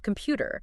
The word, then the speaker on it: computer: illustr the pronunciation of computer cuz native speakers often use a flap sound for that middle t a flap sound yeah